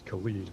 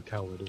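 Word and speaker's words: Caelid: of the game, the red place here, it's pronounced, here it is, written C-A-E-L-I-D. I said it out loud as Khalid when I first saw it, like DJ, Khalid, or Khaled, or whatever.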